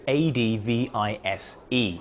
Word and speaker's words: advise: That's A-D-V-I-S-E, and notice the Z sound.